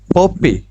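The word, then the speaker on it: puppy: ছোট বাচ্চাকে বলা হয় পপি কুকুর ছানা তাহলে এভাবেও বলতে পারি এটার সঠিক উচ্চারণ হচ্ছে এমনে পাপি পি ইউ পি পি ওয়াই পাপি পাপিস আর কিউট।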